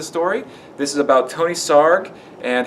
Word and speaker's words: Sarg: It says here, Sarg rhymes with arg, and he was the one who started this parade.